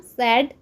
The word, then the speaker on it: said: English रे कोन कहताउ से रा past form सेड past participle form मध्ये सेड SAID y टा